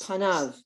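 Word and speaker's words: פניו: his face on you so that word is panov and the yod is silent like bamitzvah when you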